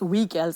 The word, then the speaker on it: WGILS: with we girls okay we girls it's the it's an approbation it's pronounced as we girls it's a skills that's